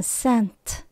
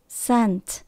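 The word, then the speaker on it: scent: là mũi Hương SC nhưng mà vì chữ c là âm câm nên chúng ta bỏ chữ c ra mình chỉ còn lại là s n t mình đọc là sent sent có nghĩa là mùi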